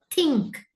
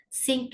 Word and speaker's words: think: So first is think, think, right? Think, sink illa, think illa, think, right?